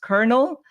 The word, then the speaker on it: colonel: that word, it's pronounced kernel. I don't know where the the in there uh the R where like where is that? But apparently you pronounce it with an R.